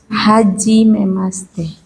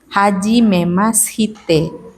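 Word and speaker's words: はじめまして: Hajime maste. Haji. Haji. Oh, Hajime masite tulisannya. haji memas. Oh, Hite. Hajime masite. haji. Hajime masite bacanya hajime maste. Haji mas. Sinya kayak tenggelam di langit-langit mulut.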